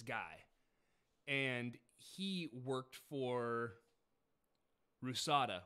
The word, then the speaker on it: RUSADA: and he worked for rusada which is spelled p-y-c-a-d-a but in cyrillic um but it's rusada which is russia's anti-doping